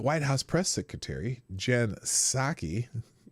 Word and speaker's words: Psaki: Every time I hear her name or say her name, I just think of a little white cup with some warm liquor in it. You know what I'm saying? A little warm sake.